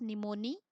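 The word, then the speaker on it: pneumoniae: आपके स्ट्रैप ओं स्ट्रैप्टॉकोक्कस निमोनि भी साइलेंट है यहां पर एंड फिगर्स इन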